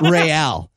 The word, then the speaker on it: Real: I love that they pronounce it Real.